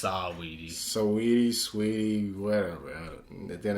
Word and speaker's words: Saweetie: Quavo and Sweetie broke up. Man. I think it's pronounced Saweetie.